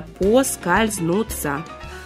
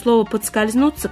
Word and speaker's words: поскользнуться: знают или не помнят что правильно именно по скользнуться возможно подскользнуться когда-нибудь вытеснит поскользнуться Но сегодня вариант поскользнуться пока еще считается единственно правильным и на этом У